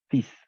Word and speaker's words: fils: fils, simplement fils. Fils. On ne prononce pas le L, fils, oui, fils.